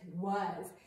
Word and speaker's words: was: And then our last spelling word is one of our sight words, and it's was. And remember, boys and girls, when I say was, we always pretend that it's spelled like was, right?